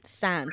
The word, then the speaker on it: SAN: men SANS than women SANS. Is it SANS or SAN? Is it SAN or SANS? What's the right way to say that? It is SAN.